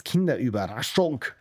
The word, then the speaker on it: Kinderüberraschung: In German it's Kinderüberraschung. That's how you say it. Also when you order it. Hallo, ich möchte eine Kinderüberraschung.